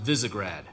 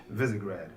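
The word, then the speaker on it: Visegrad: of characters brand new casting it's and it's pronounced visigrad visigrad okay we wanted voices that had character in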